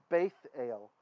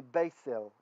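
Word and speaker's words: בית אל: And this is a Tav. Tav, without a dagish, there's no dot, was a TH sound. So even though we won't usually read it that way, we'll usually use more like the Israeli pronunciation, which is Sephardic. The Ashkenazi, we have a tradition of pronouncing this differently. So when there's no dot there, we'd say s, it'd be beisel, right?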